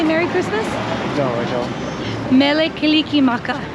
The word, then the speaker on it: Mele Kalikimaka: Merry Christmas no no Mele Kalikimaka is how you say Merry Christmas in Hawaii so in Hawaiian Hawaiian